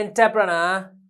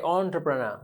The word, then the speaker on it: entrepreneur: capital entrepreneurship that's right don't say enter you say entrepreneur that is the correct way to pronounce it various resources are essential